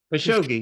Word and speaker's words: Khashoggi: Khashoggi, am I pronouncing that right? Khashoggi, yeah.